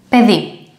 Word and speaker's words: παιδί: The pronunciation of this diphthong is e. Look at the Greek word paidi. Pe, παιδί, child or kid in English.